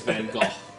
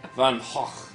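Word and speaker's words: Van Gogh: that was that was Van go but uh van HW it's literally how you say his name really van H it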